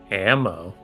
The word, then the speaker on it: AMMO: a group called Amma ammo yes ammo is uh spelled like spelled like the abbreviation for ammunition yeah capital a capital m capital O not two eyes okay so like Amo